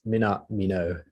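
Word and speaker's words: Minamino: Afraid you're missing a syllable. It's Mina Mino.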